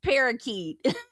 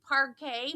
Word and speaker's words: parquet: It's parakeet." Either she thought that or when he said parquet, maybe she didn't even know what he was talking about.